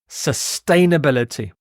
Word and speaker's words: sustainability: most common collocation there sustainability sustainability sustain so you stress the second syllable here sustainability this means